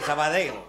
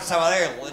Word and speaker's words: Sabadell: Quieres pronunciar la doble L al final, porque aquí decimos Sabadell y nos fumamos un puro y él te dice Sabadell.